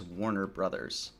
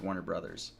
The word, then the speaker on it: Warner Bros.: the company is actually pronounced as Warner Brothers theoretically. Like the correct pronunciation of Warner Bros is Warner Brothers. Um no one really ever says Warner Bros. right? you say Warner, like Warner Brothers is how you pronounce